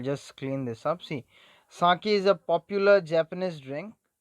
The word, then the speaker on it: sake: here okay i'll just clean this up see saki is a popular japanese drink fla is pronounced like fine father and k rhymes with